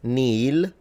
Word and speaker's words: nihil: them in classical mi nihil that's classical. So it would be out of place in an ecclesiastical pronunciation. Two varieties. You have two varieties. Either you completely mute the h and you say nil me.